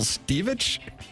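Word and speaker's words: Stivic: it's Archie Bunker and his nitwit sidekick, Michael Stevich. Is that how you pronounce it? Michael Stevick, yeah.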